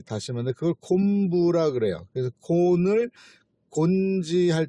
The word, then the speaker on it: 곤지: 근데 이 지를 갖고 있는 이름이 일본 쪽에서 이제 많이 발견이 되는데, 이 곤지, 일본서는 곤키오 이렇게 발음을 하지만 이 기와 지는 거의 같은 발음권에 들어가면서 같은 의미를 갖는 거예요.